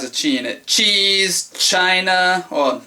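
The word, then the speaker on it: ち: This one is chi as in cheese. As in uh Oh, what's something that has a chi in it? Cheese. China. Well, chi ch like the ch sound.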